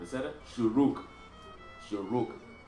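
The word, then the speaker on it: שׁוּרוּק: next to the Shin, that Vav is a oo sound. Ooh sound. So, whenever you see the Nikud on the side or at the top, it is a vowel. It's not, you don't pronounce the V sound with it.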